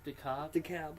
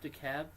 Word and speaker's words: DeKalb: DeKalb. DeKalb. Yeah. DeKalb, Illinois. Home of the second worst college in the United States, and that's a fact. So if you're thinking about going to college in DeKalb, I would consider not doing that.